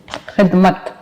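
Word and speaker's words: خدمت: खे दाल जेर खिद, मीम ते जबर मत, खिदमत। अली क्या लफ्ज पढ़ेंगे इसको? खिदमत। खिदमत, ठीक, बिल्कुल। इसका जुमला क्या बनेगा? सेंटेंस क्या सेंटेंस बनेगा? खिदमत।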